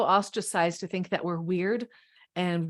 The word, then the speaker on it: wyrd: at the same time, that word weird, when it's spelled W-Y-R-D, that's fated. This was our destiny to follow this path, that all of our choices do determine what our life looks like. That's what's weird. That's W-Y-R-D.